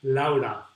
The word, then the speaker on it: Laura: Soy Laura, with the Spanish pronunciation.